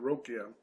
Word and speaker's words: Ruqya: So we are talking, of course, about this Ruqya, or Rokia, I guess is the correct pronunciation, Rokia.